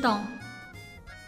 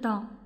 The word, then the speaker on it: temps: 好，时间是 le temps， le temps， le temps，还要记住 s，好，在词末是不发音的，好， le temps，好，时间。